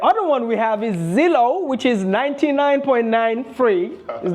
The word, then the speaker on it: Zillow: The other one we have is Zillow, which is 99.9 free.